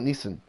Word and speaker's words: Nissan: scion Nissan nice aim we got Neeson here in Australia we call it Neeson okay so that's how